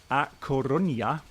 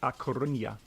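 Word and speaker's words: A Coruña: we're flying from ligebon to coronia uh i think is that correctly pronounced and because brennell told me off he said no you you say acornia okay she's gonna say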